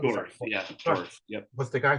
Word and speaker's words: Dorf: So again, listeners, as Matthew said, and Shell, how do you pronounce his last name? Dorf, Dorf.